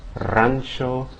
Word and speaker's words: rancho: Now let's start with the beginning, because at the beginning of words it has the same pronunciation as the double R. In other words, that multiple trill, right? The rolled R sound. Rio, rancho, rubia.